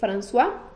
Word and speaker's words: François: François Kensnay, se escribe así, François, F-R-A-N-C-O-I-S, pero se lee François Kensnay, aseguraba lo que era ya algo en común, ¿no?